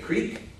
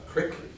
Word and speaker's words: creek: It may be a creek, or as I've heard it pronounced here, I think Kurt said, a crick, one of our table topics.